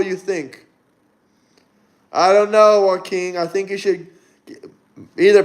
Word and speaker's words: Joaquin: Joaquin, that's his name. That's how you pronounce it.